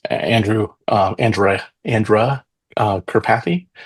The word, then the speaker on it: Karpathy: And there's a a famous guy uh um uh in the AI space Andrew uh Andra Andra uh Karpathy. Andre Karpathy is probably the right pronunciation. Andre Kapathy and uh he was